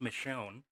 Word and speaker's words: Miscione: aaron hahn and mario daniel tells me it's pronounced michonne um funny to me